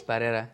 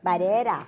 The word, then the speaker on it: Barrera: How do you say it in Spanish? Barrera. Barrera. Yeah. Oh, okay. Roll the R's.